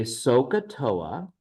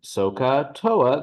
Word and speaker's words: SOHCAHTOA: They don't know how to spell that because so doesn't that H sounds silent. The ka, the H is silent.